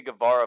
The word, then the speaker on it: Guevara: Sammy Guevara versus Wonder Woman.